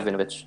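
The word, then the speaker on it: Krovinović: I don't think Kroninovic. Is that how you say his name? Krovinovic. Yeah. Krovinovic.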